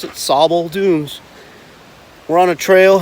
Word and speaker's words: Sable: even though the spelling is ace s-a-b-l-e they pronounce it sabal dooms we're on a trail heading down to sable dunes which is right uh right along the lake shoreline and we'll show you sabo falls in a minute that feeds into or